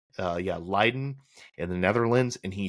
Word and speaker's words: Leiden: This is over the Netherlands, and he follows railroad tracks to a rail yard near at Leiden, I believe is how you say it. Leiden in the Netherlands, and he shoots up the train.